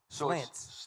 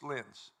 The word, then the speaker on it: Slentz: Is the T silent? Yes. Slentz. Slentz. Yes.